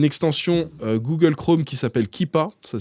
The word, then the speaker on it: Keepa: prix c'est une extension Google Chrome qui s'appelle kippa ça s'écrit keepa juste vous l'ajoutez à Google Chrome